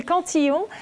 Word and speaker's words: Cantillon: Her name is Estelle Cantillon, and she's one of the most brilliant economists of her generation.